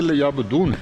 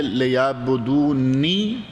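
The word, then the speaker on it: ليعبدون: کی توفیق عطا فرمائے۔ نہیں پڑھتے لیعبدون ہیں، لیکن ہے یہ لیعبدونی، اسی لیے نون کے نیچے زیر ہے۔ نہیں یا کو اتنا نہ آپ کھینچیں، چونکہ زیر کا جتنا تلفظ ہے نا اتنا رکھیں۔ لیعبدون چونکہ یہاں وقف ہو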